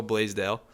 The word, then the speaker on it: Blaisdell: We're back down here in New Hampshire again, me and Isaac, and we're sitting here with Roscoe Blaisdell. Did I pronounce that right?